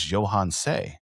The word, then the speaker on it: Yohance: And once I started to learn phonetic pronunciation, I went to the name book that my mother had where she had picked out my name and I looked at it. I said, "My name is Johans."